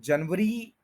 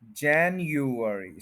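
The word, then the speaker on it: January: कहते हैं जनवरी तो जनवरी इस तरह से नहीं है देखें इसके फोर सिलेबल है फोर पार्ट्स में यह वर्ड बोला जाता है जन फिर य फिर अर और फिर ई जैन यू अर ई और स्ट्रेस है फर्स्ट के ऊपर तो ये बनेगा जन री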